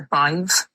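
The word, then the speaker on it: Badb: So, the triad um is the Bive is B A D B H sorry B A D B.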